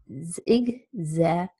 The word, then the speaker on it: exaggerate: Z just write it exaggerate four syllables and primary stress is on the second syllable so it's a good